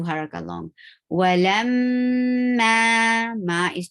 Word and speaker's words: ولما: ظهورهم كأنهم لا يعلمون Walamma. Circle your lips to pronounce wow. You're not using your teeth to touch the lower lip to pronounce wow. Be very careful to pronounce it.